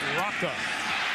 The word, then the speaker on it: Rocca: We've heard it pronounced Roca. He corrected it this week, says Sav Rocca.